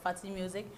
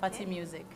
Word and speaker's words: Fatimusiq: It's Fatty Music. You can stream my song on all musical platforms. And you can follow me on YouTube, okay. Fatty Music.